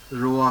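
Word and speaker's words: roi: Roa. A bit louder, Aradha. I cannot hear you. Noa. Roa. Very good. Roa means king. Okay. Roa means king. How to pronounce this word?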